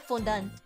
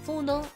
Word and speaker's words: fondant: I don't like fondant. I don't know how to pronounce it. Fondant. I just pronounce it like the French way.